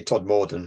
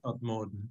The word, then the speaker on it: Todmorden: It's like people saying Todmorden wrongly. It always annoys me. They say Todmorden and it's not. Todmorden.